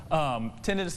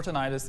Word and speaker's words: tinnitus: help that go away yes tinnitus or tinnitus either pronunciation is correct hearing aids they don't